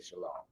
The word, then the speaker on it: shalom: to say it mia i'm trying to get back to the ancient hebrew i would say shalom right if i was